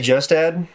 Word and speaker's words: Kjostad: I say KJOSTAD. Uh-huh. It's the name of a lake in Minnesota. Is that how they pronounce it? Pretty much, yeah. I mean, Minnesota is populated by Norwegian immigrants, so it's probably more like KJOSTAD.